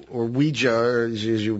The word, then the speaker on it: Ouija: I've always thought the name Ouija, or Ouija, as you pronounce it, you pronounce it the way it looks, we, French for yes, ya, German for yes.